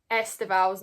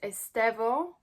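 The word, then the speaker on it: Estêvão: you if you're watching, somebody messaged me in the comments saying that Esteval's name is not pronounced Esteval and it's Estevo, I think. So I hope that's the correct pronunciation, and I promise I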